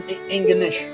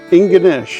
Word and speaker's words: Ingonish: How do you pronounce this town? Inganish. Inganish.